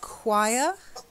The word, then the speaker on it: choir: The next one, we've got the word choir. Choir. And somebody who sings in a choir is a chorister. So it's a hard C sound.